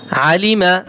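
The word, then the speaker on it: عَلِمَ: আইন জবর আ লাম জের লি আলি মিম জবর মা আলিমা আলিমা আইন গলার ভিতরে চাপিয়ে বলতে হবে আলিমা আলিমা আর যদি আপনি অর্থ শিখতে চান তাহলে যে আলিমা শব্দের অর্থ সে জ্ঞান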